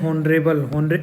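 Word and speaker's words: honorable: 97, ठीक है, ही इज़ not dash हॉनरेबल, एन ओ के साथ में EIOU के साथ में एन आता है, और यहाँ पर एच साइलेंट होगा, ओ के साथ में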